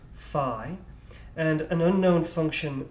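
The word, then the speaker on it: phi: familiar with that symbol that's pronounced fi and an unknown function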